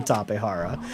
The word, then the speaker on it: Tapejara: from people for about the way I pronounce the name topihara but you know scientifically that is that is the pronunciation you know it's just there's a lot of people who uh pronounce it the American way because you know because